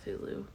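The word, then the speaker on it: Cthulhu: he wrote a letter to somebody saying it's pronounced cthulu so yeah interesting reading and writing by seven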